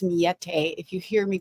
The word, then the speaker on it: Millete: So Mete is not mallete. It's Mete. If you hear me pronouncing that way, I'm just doing my very